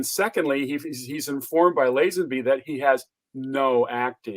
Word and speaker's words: Lazenby: i have another but uh ted is it lassenberry is that it is how do you say you mean george lazande lazenby george not ted george ladies and be now